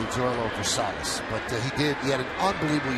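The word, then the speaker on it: Zoilo Versalles: And I think it's probably Versailles, but there's no pronunciation guide anywhere on the internet, so I'm going to correct it and say Zoilo Versailles.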